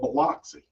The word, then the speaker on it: Biloxi: Caramel is now granted it may be spelled caramel, but Biloxi is spelled Biloxi. It's pronounced Biloxi.